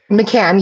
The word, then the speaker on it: McCann: M C K N I don't know how to pronounce that. McCann, yeah.